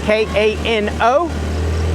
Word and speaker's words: Kano: K A N O. The female version of me is a kanak. K A N A and it's pronounced kano and ka.